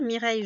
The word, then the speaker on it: Mireille: c'est un prénom et mireille je vous ai dit ça s'écrit ça se construit comme abeilles donc le son et y y ici avec i 2 l e puisque c'est un